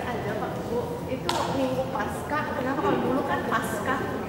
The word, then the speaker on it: Paskah: benar adalah Paskah, ya Paskah itu dari bahasa Yunani. Nah, saya sih tidak masalah Bu pakai Paskah, nggak masalah. Yang artinya adalah melampaui atau melewati, ya. Asalkan jangan dibacanya pasca, nah berbeda lagi.